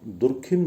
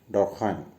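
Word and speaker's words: Durkheim: हमारी अमूमन पुस्तकों में इनका नाम दुर्खिम दिया हुआ होता है, जबकि इसका सही प्रोनाउंसिएशन है डर्कहाइम।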